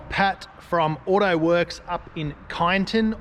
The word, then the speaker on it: Kyneton: from AUTOWORKS up in KYNETON, or KYNETON as people say it, but it's KYN, so KYNETON, that's how I'm going to say it.